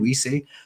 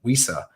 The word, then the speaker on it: Wisse: And when he fought Donovan Wisse, it's not pronounced like that. Wissa, that's what it is.